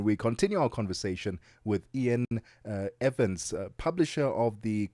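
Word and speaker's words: Iain: It's it's Ian. Oh, it's Ian.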